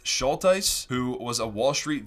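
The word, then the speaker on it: Schultheis: Now, the Coffeehouse portfolio was built by Bill, I believe his last name is pronounced Schulteis, who was a Wall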